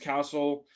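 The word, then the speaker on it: CASL: became effective in 2014 Castle pronounced Castle is an anti-spam law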